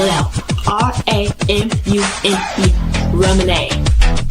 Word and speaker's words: Ramune: It's called Ramune. Let me spell it out. R A M U N E, Ramune.